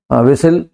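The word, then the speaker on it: whistle: मारेगा जल्दी करो एजन विसल ट पैसेंजर ठीक है विल में देखो जब एस और ए के बीच में टी आता है तो साइलेंट हो जाता है ससल हो गया बसल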